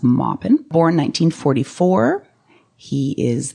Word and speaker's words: Maupin: Armistead Maupin he's from North Carolina so it's pronounced Maupin or in 1944 he is the author of